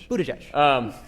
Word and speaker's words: Buttigieg: If Perez or Ellison or Buttigieg, see, I say his, I can pronounce his last name now. Buttigieg.